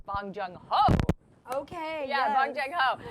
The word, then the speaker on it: Bong Joon-ho: It's Bong Joon-ho. Okay. Yeah, yes. Bong Joon-ho. Great pronunciation.